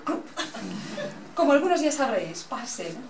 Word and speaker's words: Purcell: Como algunos ya sabréis, Parcel, pronúnciese Parcel, no como Purcell, no solo fue un músico genial, sino que además tiene un repertorio tan variado como apasionante.